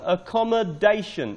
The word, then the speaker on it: accommodation: First one, accommodation. Accommodation. The stress is on the fourth syllable.